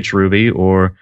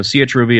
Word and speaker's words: chruby: So chruby, that's what I like to call it pretty much. You can pronounce it however But yeah, it's patterned